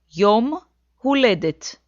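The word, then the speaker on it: יום הולדת: country's birthday but how do you say birthday yom who led it yom who led it and with the definite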